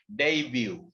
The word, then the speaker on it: debut: that's the word occurrence and the next word debut debut debut that's a french word but the spelling is different the pronunciation is a debut careful other french word